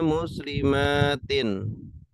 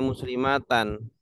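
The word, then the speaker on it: مسلماتٍ: Dom Dom ini ketika nasab bacanya muslimatin muslimatin tanda nasabnya apa kasro tanda nasabnya kasr Awas ini banyak yang keliru ya banyak yang mengira bacanya muslimatan Padahal kalau jamak muanas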